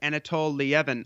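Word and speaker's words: Anatol Lieven: No, not at the moment, except that this is there's a great piece by I think his name is pronounced Anatol Lievin over at Responsible Statecraft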